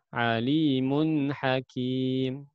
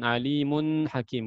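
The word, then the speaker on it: عليم حكيم: meski tanwin ketemu HP ya Alimun Hakim bukan Alimun Hasyim bukan ya sesudahnya Hamzah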